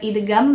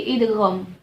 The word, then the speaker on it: idgham: Ya, bukan idgham bacanya tapi idgham.